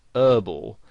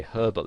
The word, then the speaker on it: herbal: they would pronounce it whereas in british english you would pronounce the h and you'd say herbal essences and you might